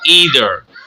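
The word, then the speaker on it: either: Next है आइदर और ईदर। आइदर भी पढ़ सकते हैं इसको और ईदर भी पढ़ सकते हैं, दोनों प्रोनाउंसिएशन दुरुस्त है।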